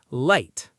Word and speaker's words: light: Light. Say it. Light. The GH is silent.